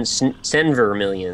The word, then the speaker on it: Senvermillion: Is that how you pronounce that? S-E-N, Senvermillion.